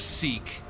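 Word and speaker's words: Sikh: I'm pretty sure he's seek like the the seek religion. That's how that's pronounced.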